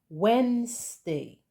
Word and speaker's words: Wednesday: it is not pronounced Wes day it is pronounced wedes day okay pay attention Wednesday good let us do some exercises what day